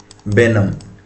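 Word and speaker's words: benumb: पहले तो दोस्तों प्रोनाउंसिएशन देख लेते हैं। बी इ एन यू एम बी बेनम।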